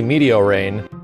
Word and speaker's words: Meteorain: I used to pronounce it Meteorian, and it's obviously Meteorain.